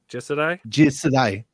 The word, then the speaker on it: Jisedai: How do you pronounce that again? Jisedai? Jisedai.